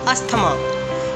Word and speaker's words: asthma: In the word, TH is silent. Don't pronounce it as asthma, although this is a very common mispronunciation that is used in Indian English, but it's actually asthma.